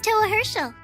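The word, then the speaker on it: Towa Herschel: The name's Toa Herschel. Hey, actually pronounced it right.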